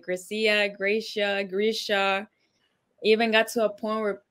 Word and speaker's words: Grecia: up you gotta let us know how to pronounce it so we can move forward on this Gracia chiso Gracia Gracia graia all right good you know I